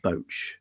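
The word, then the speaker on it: Boetsch: this imbecile's name tim boats boat so there's the e and the s the e and the s don't count okay watch tim boach um just to let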